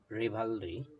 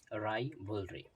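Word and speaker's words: rivalry: রাজনৈতিক প্রতিদ্বন্দ্বিতা, পলিটিক্যাল রিভালরি হবে না, এটার উচ্চারণ হবে রাইভলরি।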